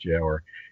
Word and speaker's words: gaoler: And for internal security, the gaoler, the jailer, it's spelled gaoler, but it's pronounced jailer, is going to end